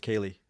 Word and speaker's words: Kali: Yeah, it's spelled like Kali, but it's Kali.